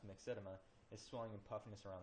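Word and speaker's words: myxedema: So where these global bond and then mixed mixedma sorry looks like mix edema is pronounced mixedma is swelling and puffiness around the joints.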